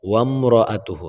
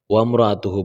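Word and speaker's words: وَامْرَأَتُهُ: এখানে একটা ভুল অনেকেই করে ফেলে যে এখানে ওয়াও মিম জবর ওয়াম। তো এখানে অনেকে বলে বা ওয়ামর হামজার উচ্চারণ করে ফেলে। এখানে কিন্তু হামজা আছে, কিন্তু হামজার উপরে কোনো প্রকার জবরজের পেশ নাই। তা ওয়াও মিম জবর ওয়ামরাআতুহু, হ্যাঁ? ওয়ামরাআতুহু বলবো আমরা। যেন না হয়ে যায়।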